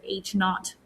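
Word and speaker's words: h₀: nothing okay and this one when you'd say h naught okay so that's how you pronounce that and all that that means is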